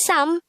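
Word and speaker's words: 사: If you would notice, you just have to remove the miyam character from number 3, which is sam, to make it number 4, which is sa.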